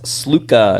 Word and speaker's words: Sluka: on it yeah uh UNLV Matt sluka is how you say it yeah uh n cool